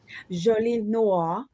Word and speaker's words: Jolie Noire: Jolie Noire. Jolie Noire. Okay. Yes. Put a little French on it.